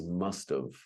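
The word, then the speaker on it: must've: But actually it's must of, which is the verb. It's M-U-S-T apostrophe V-E, must have. But it sounds like OF, the preposition.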